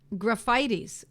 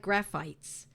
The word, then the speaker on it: Graphites: Graphites, or it looks like graphites, but it's pronounced graphites.